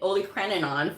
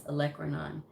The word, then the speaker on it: olecranon: was just like i i've been saying it holy craninon for years and it's olecranon so proper pronunciation is key proper wording of anything is